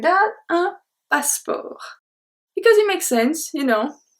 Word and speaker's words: passeport: We don't even pronounce the E, I just said to make, to emphasize, but we don't pronounce the E, so it's un passeport.